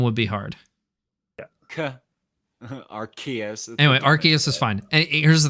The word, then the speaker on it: Arceus: the nintendo directs have said said it with the hard c okay okay what about